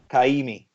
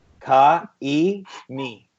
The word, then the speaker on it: Kaimi: Kaimi. Right. Ka-e-mi. Ka-e-mi. This sounds really close to like a pretty bad abuse in Hindi. It's Hawaiian.